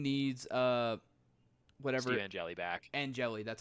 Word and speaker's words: Angeli: Angeli, that's how you pronounce it.